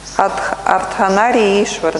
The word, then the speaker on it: Ардханаришвара: Ардханари и Ишвара, на самом деле, да? На самом деле, если правильно произносить.